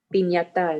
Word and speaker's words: piñata: Piñata in Spanish. Yes. Remember, the T sounds like ta, te, piñata. Piñata. And Correct. like in English, it's pin, but in Spanish, it's pin. Piñata.